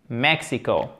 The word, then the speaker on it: Mexico: Accent tonique ici avec un « e ». Mexico.